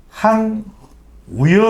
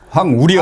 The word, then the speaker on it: 황우여: 되잖아요 그래서 끝으로이 말씀드립니다 황 우여 위원장에 대해서 황우여 아고 발음하는 분들도 계시고요 황우려 황 우려라고 발음한 분도 계시다는 것을 제가 끝으로 말씀을 드립니다